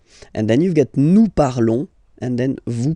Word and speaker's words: parlons: Remember, final s is not pronounced, okay? And then this on together, they will give you the sound on, okay? Nous parlons, nous parlons.